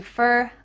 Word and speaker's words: for: Why does for change to fur? I don't know, but that's what happens. So this is going to sound like F-E-R, fur.